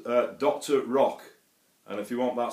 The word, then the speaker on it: Doktor Rok: a f pedal by a guy called uh Dr Rock and if you want that spell that is d k t o r r